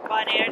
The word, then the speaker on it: Bonaire: Bonaire, that's how you say it. Bonaire.